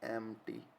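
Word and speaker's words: empty: क्या बोलते हैं, एम्प्टी, पी साइलेंट रहता है यहाँ पे ना, पी साइलेंट होता है।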